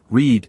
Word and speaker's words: read: help you remember that read in the past sounds like the color red.